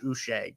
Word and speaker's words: Uche: Uche is how you say his last name, by the way. Uche, like Bobby Boucher.